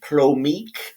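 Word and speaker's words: plomeek: all right now we go to a little plomik soup and that is the Vulcan it's a Vulcan sort of delicacy or soup it's a traditional Vulcan soup it's pronounced Pro Meek uh the big famous episode was of course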